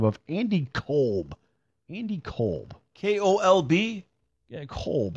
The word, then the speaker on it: Kolb: Kevin a little cold but it's pronounced Cobb yeah that's a scam